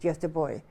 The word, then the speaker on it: Göteborg: Gothenburg, you would pronounce it Göteborg.